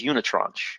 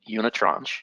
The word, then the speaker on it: unitranche: And the word is unitranche, and that's how you say it, unitranche.